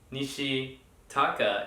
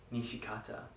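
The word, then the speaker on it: Nishikata: Instead of Nishi Taka, it's Nishi Kata.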